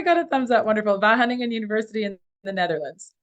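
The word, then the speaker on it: Wageningen: and soil physicist at and bear with me vah Hunan did I say it right oh I got a thumbs up wonderful vah hunting and University in the Netherlands her expertise is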